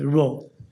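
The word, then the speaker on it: rho: or the Greek letter row this is actually pronounced as row so this test is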